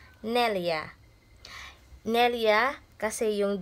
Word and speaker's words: neljä: When you say 4 in English, in Finnish, it's Nelia. Nelia, kasi yung G nila dito na jar, guys, it's Y yung pagbasa. So, instead Nelja, pagbasa dito, Nelia.